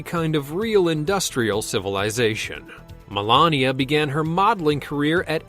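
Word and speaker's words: Melanija: milania's real name is Melania it's pronounced exactly the same but spelled with the J her name was germanized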